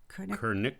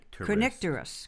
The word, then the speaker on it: Kernicterus: By the way, that condition is spelled Kernicterus. I'm going to go with Kernicterus. Kernicterus.